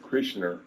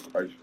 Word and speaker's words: Kreischer: Oh, so it's not Brent Krishner, it's Bert Kreischer.